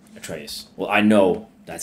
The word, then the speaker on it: Atreus: I think that's how he pronounces his name, Atreus.